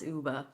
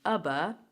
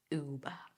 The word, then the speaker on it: Uber: And this is how we pronounce Uber, by the way. If you're Brazilian and you're saying Uber, nah, Uber.